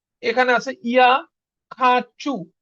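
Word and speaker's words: хочу: এখানে আছে ইয়া খাচু খাচু এটার উচ্চারণ কি খা এটার উচ্চারণ আর মতন হয়ে যাবে যেহেতু চু চুর উপরে আমাদের কি পড়তেছে স্ট্রেস পড়তেছে দেখেন খাচু চু লাস্টে চুর উপরে পরে কি স্ট্রেস তার মানে কি আমাদের ওটা আর মতন উচ্চারণ হবে তার মানে কি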